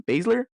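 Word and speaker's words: Baszler: you say your last name Basler there you go how do we feel about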